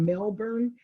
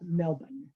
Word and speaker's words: Melbourne: course living in florida we have a town called melbourne but that's not how you pronounce this uh this would be more of melbourne uh melbourne is um